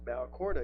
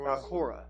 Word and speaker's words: Balcora: Nope, no, there's no D on it, Balcora. We are adding. So, Balcora.